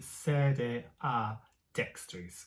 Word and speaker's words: sede a dextris: And it's definitely sede a dextris, because you do have ad sometimes, but the a and the dex are separated.